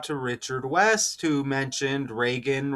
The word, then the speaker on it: Reagan: Richard West who mentioned Reagan rhymes with Megan like Megan good again who was trending at the same time a lady named good was shot by Ice in Minnesota.